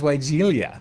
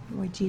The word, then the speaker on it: Weigela: I've always known it as weigelia. Yeah. And uh Weigela. So, it's hard to There's no I in there.